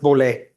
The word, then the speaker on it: Bollet: It's pronounced Bollet, close enough.